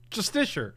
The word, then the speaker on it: Justiciar: I can't actually pronounce this word. Justiciar. Hold. Justiciar.